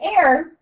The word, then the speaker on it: heir: Now an heir, it's pronounced like this, okay?